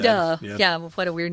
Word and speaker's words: Aouda: Aouda is what I said. Aouda.